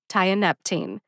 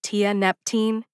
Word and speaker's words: tianeptine: benzodiazepine tianeptene diazepam tianeptine note that none of my examples have an era sound like Tia Neptune otherwise we would have